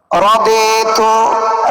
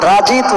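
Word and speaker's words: رضيت: এখন বলবেন রাদিতু রাজিতু না, অনেক জায়গায় লেখা আছে রাজিতু, বাংলায় বাংলার উচ্চারণ হয় না। আগের যে অনেক কিতাবের মধ্যে ভুল আছে। রাজিতু না, রা জবর রা, খা জবর খা, গাইন জবর গা হয় না, র জবর র হয়।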